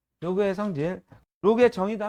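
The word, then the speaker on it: log: 이거를 로그라고 읽으셔야죠. 10g 이렇게 읽으시면 안 돼요. 로그입니다.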